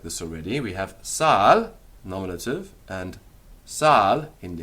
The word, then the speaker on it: sal: salt or of the salt that is Sal the accusative and the genitive of salt Salis notice it's got a long a Sal but Salis it's a short a when the nominative and